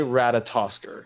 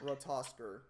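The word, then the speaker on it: Ratatoskr: Say Rata. Rata. Say Tosker. Tosker. Okay, now say Ratatosker. Ratosker.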